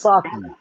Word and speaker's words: sake: It's pronounced sake.